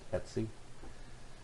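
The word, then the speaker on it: etc: are primarily stored under the DTC directory and that's pronounced etsy so this will have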